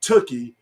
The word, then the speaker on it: Tookie: I'm also excited to have a good conversation with Tookie, rhymes with Cookie, Kavanaugh.